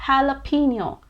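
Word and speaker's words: jalapeño: is it jalapeno or is it jalapeno well i'm sorry to say it's neither it's not jalapeno nor jalapeno in fact this word is pronounced as jalapeno jalapeno i know this sounds even more illogical than the previous one but that's how it is actually jalapeno is a spanish word for a chili that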